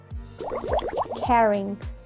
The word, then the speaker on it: caring: Caring. A ver, repite conmigo. Caring. Si te fijas, vamos a cambiar la A por una E y luego esa G la vamos a marcar al final, pero muy poquito.